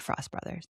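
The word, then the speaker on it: Frost Bros.: Frost Bros, but they would pronounce it Frost Brothers.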